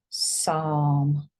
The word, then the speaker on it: Psalm: this one is s don't say Pam leave that sound out you say this part Psalm okay this is um